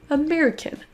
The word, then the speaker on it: American: Et américaine n'existe pas, c'est bien son schwa au début. American, American.